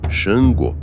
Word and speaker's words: Xangô: Na antiga terra de Oió, entre colinas avermelhadas e ventos de savana, nasceu Xangô, pronunciado Xangô, filho de Oranhã, fundador do Império, e neto de Oduduá, o ancestral primordial dos Yorubás.